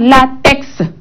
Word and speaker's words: latex: Mais dans d'autres, hein, on dit la consonne muette peut se prononcer dans des mots et non comme index, Alex, Félix, hein, latex. Et là, on écoute notre consonne X à la fin de ces mots.